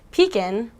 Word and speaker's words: pecan: How do you say it? Pecan? Pecan. Or pecan? Well, it turns out that you actually pronounce it Pecan.